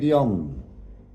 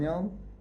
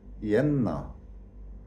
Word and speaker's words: Jann: Arabic, Islamic call the character Jann Ibn Jann, Jann Ibn Jann, and or Yenna, which is totally wrong pronunciation.